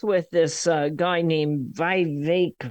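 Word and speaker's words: Vivek: this uh guy named VI rhymes with cake ramaswami I can't find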